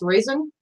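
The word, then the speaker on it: Raizen: But Sunny, I'm assuming it's pronounced raisin. R-A-I-Z-E-N.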